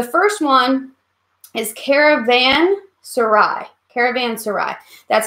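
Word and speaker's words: caravanserai: to remember the first one is Caravan Sarai caravans to ride that's how you say it and basically what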